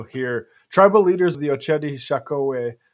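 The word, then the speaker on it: Oceti Sakowin: Tribal leaders of the Ochedi Shakowee, it's pronounced, deliver notice of trespass and eviction notice to Grand Gateway Hotel.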